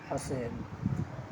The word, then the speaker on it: حسیب: امالہ کہتے ہیں۔ تو یہ لفظ اصل میں ہے حساب۔ یہاں پر جس میں امالہ کیا گیا ہے تو وہ حسیب ہو گیا ہے، حسیب۔ اب جو تلفظ ہو رہا ہے امالہ کے بعد، اسی تلفظ کی صورت میں اس کو لکھا گیا ہے، اس لیے یا کے